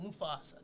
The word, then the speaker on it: Mufasa: I said, how do you say his name? And he's like, Mufasa.